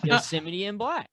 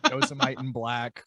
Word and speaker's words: Yosemite in Black: is this band like yosemite sam or like yosemite and black so that's how you say it yeah actually on on